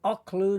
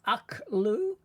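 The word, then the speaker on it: אכלו: Now, why is it olu, not au? This is a modern Hebrew kamat grammar rule to give it a short o sound rather than the a sound.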